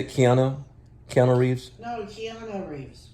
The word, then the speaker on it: Keanu: it keanu counter reeves kiana i was mispronouncing it wrong kiana no tiana reeves kiana keanu reeves she's honorary kiana keanu